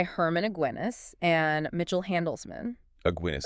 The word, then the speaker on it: Aguinis: Aguinis. Aguinis rhymes with beer.